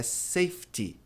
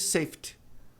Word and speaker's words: safety: Então a pronúncia correta de segurança é safety. Mas muita gente diz safety, né? O brasileiro tem uma tendência a não pronunciar esse i no final.